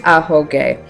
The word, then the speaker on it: Ahoge: Seems pretty obvious now that I've said it about 12,000 times in this video, but it's Ahoge. Queenie likes saying Ahoge.